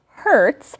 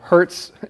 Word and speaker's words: hertz: great words to know hertz kind of sounds like when you get hurt but it's spelled h-e-r-t all right and then